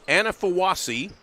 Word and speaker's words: Anafuowasi: Number 11 a junior Cameron Anafuowasi. And I did check on the on the pronunciation of that. So it is Anafuowasi.